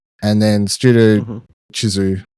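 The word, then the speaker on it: Chizu: And then Studu Chisu. Shisu. Am I saying it right? Chisu.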